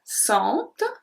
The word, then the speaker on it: sentent: sentons, vous sentez, ils sentent, elles sentent. So for this one it's a bit different because the il and elle pluriel have a slight different pronunciation. We pronounce the T.